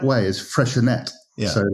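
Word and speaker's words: Freixenet: Well, I mean, the correct way is freshet. So like Catalan, right? Because it's Catalan.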